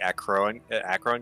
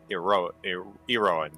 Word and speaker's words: Eroan: It's not the Acron Games. It's the Eroan Games because it's something held in the honor of the god Eros.